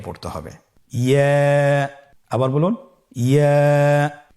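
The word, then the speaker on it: ياء: ইয়ার মাখরাজ কোন জায়গা থেকে উচ্চারিত হয়? ইয়া উচ্চারিত হয় জিহ্বার মধ্যখান তার বরাবর উপরে তালুর সঙ্গে লাগিয়ে উচ্চারিত হয়। আমরা জিহ্বার মধ্যখানটাকে উপরে তালুর সঙ্গে লাগিয়ে উচ্চারণ করি ইয়া।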